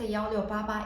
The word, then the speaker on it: 1688: first for this website so 1688 is literally pronounced yo yo baba in chinese number six is associated with good